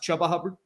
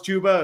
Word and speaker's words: Chuba Hubbard: It's like saying you think Chuba Hubbard is pronounced Chubba Hubbard, and Oh, then when yeah. I found out it was Chuba, it was the saddest day of my life.